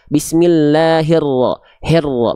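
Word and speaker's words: بسم الله الرحمن الرحيم: Bismillahirrahmani, bukan hirra. Bismillahirrahmanirrahim, bukan he. Hi, tengah lidahnya diangkat. Bismillahirrahmanirrahim. Jelas i-nya, nggak jadi e.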